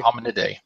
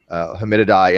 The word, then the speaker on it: Hominidae: I can never pronounce that. Hominidae.